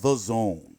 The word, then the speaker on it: DAZN: It's spelled Dazn, but it's called the zone, like the and then Zone.